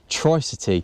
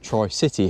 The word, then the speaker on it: Tricity: I've got the Yamaha tric City or Tri City however you want to pronounce it this bike is a